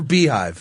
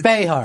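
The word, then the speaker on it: Beyhive: And it's Bayhive or Beehive? It's Bayhive. Yeah. She is, they're all Bayhives. First it was B and now it's Bay.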